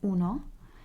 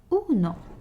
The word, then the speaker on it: uno: as well is in uno o as in orphan uno and then we have